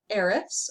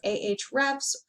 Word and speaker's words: Ahrefs: that my agency uses it's called arifs or ahrefs there are many different ways to pronounce it um i'm going to